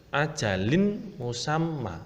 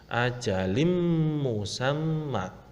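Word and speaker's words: أَجَلٍ مُسَمًّى: Jadi yang kedua ini ada kasroh tanwin, huruf lam berharokat kasroh tanwin. Nah, setelah huruf lam ada bertemu dengan huruf mim. Nah, berarti harus dimasukkan. Tidak boleh ajalin musamma, tidak boleh, harus masuk dengan dengung. Ajalim musamma.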